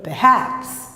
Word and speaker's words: perhaps: Perhaps, perhaps. Praticamente você fala o P e o haps, né? Perhaps. Esse ER se transforma em schwa.